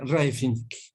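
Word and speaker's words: Rybczynski: Ese se pronuncia Raifinski.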